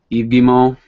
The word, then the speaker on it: Guillemot: think so um Eve gimo oh that's his name yeah all right the pronunciation of uh the CEO is eimo whatever I I really